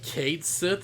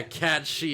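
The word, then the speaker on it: Cait Sith: yeah yeah yeah yo apparently kate sith is supposed to be pronounced kid or whatever it's like cashy yeah cat she it's like what his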